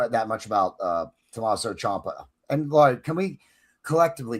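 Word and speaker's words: Ciampa: Champa. Champa.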